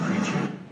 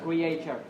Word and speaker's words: creature: Nhưng mà cái từ này sẽ đọc là gì đấy? Creature, đúng không? Chứ không phải là creator.